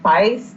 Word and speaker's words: Feist: I listened to, I believe it's pronounced Feist.